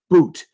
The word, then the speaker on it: Bout: so-called Russian spy, Victor Bout, spelled B-O-U-T, but pronounced as if it were B-O-O-T.